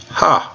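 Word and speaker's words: ἡ: And what that tells us is that we need to have an H sound out in front of this. So we have H for the rough breathing mark, and then omicron has a short O sound, omicron. Put it together and you have H, ha, ha.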